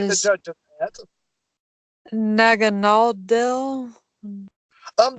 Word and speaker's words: Naganadel: Nag- There's several ways to pronounce it. There hasn't been a conclusive name. A lot of people say Naganadel, Naganadel. Um, I just say Naganadel because it's just the easiest way to say it.